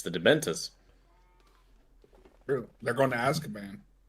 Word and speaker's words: Dementors: It's the Dementors. True. They're going to Azkaban. Do you mean... Wait, what did you say? Dementus? Dementors.